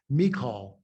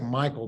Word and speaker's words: Michal: Her name is pronounced Michal. Now, it looks like Michael, but it's pronounced Michal.